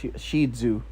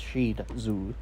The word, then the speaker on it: Shih Tzu: Shih Tzu. That's how this actually pronounced. Shih Tzu.